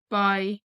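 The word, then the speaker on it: beidh: In Munster, they say beg instead of by. In Connacht, it's by.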